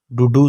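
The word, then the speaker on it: duduk: डूडू सिनी। डूडू सिनी के साइलेंट है।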